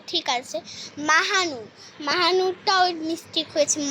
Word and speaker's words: মাহনুর: আফিন বানানটাও ঠিক আছে মাহানুর মাহানুরটাও মিস্টেক হয়েছে মাহানুন না মাহনুর এম এ এইচ এম